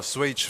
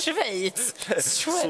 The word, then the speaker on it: Schweiz: skit, det är att jag tydligen uttalar Swage fel. Swage! Jag vet inte, Swage, alltså det är det. För, jag vet bara att jag sa det. Det heter inte det, det heter Schweiz.